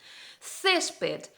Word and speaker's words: césped: tónica debe estar acentuada césped césped tenemos ahí la última sílaba termina con una d pero cesc en la sílaba tónica la penúltima entonces tenemos que acentuar la por qué porque